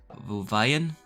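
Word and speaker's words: Wehen: So this one is against SV Wuvayan. It's spelled W-E-H-E-N.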